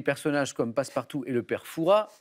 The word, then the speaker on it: Perfa: comme passe partout et perfa attention il y a un s à la fin mais les puristes ne prononcent pas le S de foura on dit pas perfas on dit perfa et je vous invite